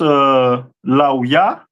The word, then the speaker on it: Levi: This is the tribe of Levi, which is pronounced Lauya, which means join to me, and the stone is carbuncle.